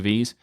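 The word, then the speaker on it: Vvave: maui kit such as i don't know if you're supposed to say wave or v-vave because it's it looks like it's presented as a w but it also is spelled with two v's so i'm going to call it v that's a music player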